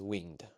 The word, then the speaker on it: winged: Winged really just means winged, having wings. Winged is used there for poetic purposes. It adds an extra syllable to what normally is only one syllable. Winged becomes winged.